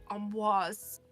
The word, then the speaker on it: Amboise: Yeah. Like AHM. And then... it says with a nasal AN sound. And then followed by BWAZ. Is sometimes anglicized as amboise, but the French pronunciation is preferred.